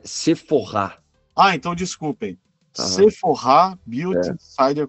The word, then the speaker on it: Sephora: É seforr. Ah, então desculpem. Seporrá cider community. É que o pessoal aqui no Brasil fala seforá e mas com a marca francesa parece que a pronúncia correta é seforr.